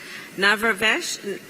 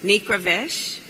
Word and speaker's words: Nikravesh: And we have Mr. Babek Navravesh. Excuse me, please forgive me. I'm going to do that again. It's important to pronounce correctly. It's Nikravesh, and he is a partner at Morrison & Forrester.